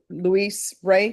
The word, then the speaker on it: Ray: Is it Ray, the last name? Yes. Yes, I thought I was pronouncing it.